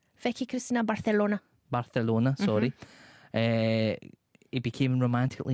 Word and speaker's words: Barcelona: old hamon hamon co-stars say it right barthelona Barcelona sorry it became